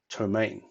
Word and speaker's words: ptomaine: I'm going to go with tahu Rhodes and pronounce it Tomei now what is ptomaine poisoning well today we would just call it